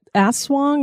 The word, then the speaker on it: aswang: Is it aswang?